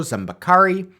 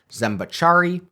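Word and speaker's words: Zambeccari: @RationalGene tweeted me to correct my pronunciation of Count Francesco Zambacari. I was pronouncing it Zambacciari. Sorry about that.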